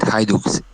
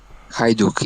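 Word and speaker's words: Hajduk: cards these days yeah also on pronunciations there is uh coach as rebellion and Cara George's Legacy oh and haiduk haiduk is the name of the unit oh nice very interesting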